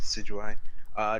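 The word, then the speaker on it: Decidueye: can't even pronounce me I think it's just see GOI to see you I descent jus I yeah deceit you I yeah so it's decidua yeah like she said Sid you I this once decidua was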